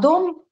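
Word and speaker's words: dem: А, не дем произносится, а дом, да, все равно.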